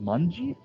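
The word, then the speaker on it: 卍: No, it's actually in Japanese. It's pronounced manji.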